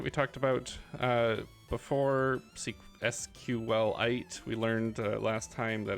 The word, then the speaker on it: SQLite: talked about uh before sqlite we learned last time that it's properly pronounced s q Lite like it's a supposedly a mineral um but that's in